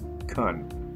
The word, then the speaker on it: can: fix it later again the word can can be pronounced cun to possibility practice pretend